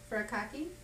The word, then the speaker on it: furikake: Furikake.